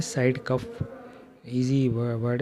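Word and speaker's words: COF: colour के आपको नजर आ रहे हैं यह कफ है और कफ सीओ एफ कफ कहते हैं इसको इसीलिए कि इसकी स्पेलिंग है सीओ एफ कफ कफ की एविएशन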